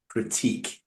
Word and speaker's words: critique: not the same word this is critique critique what crique crique yeah so critque oh critique critique critique critique okay okay that's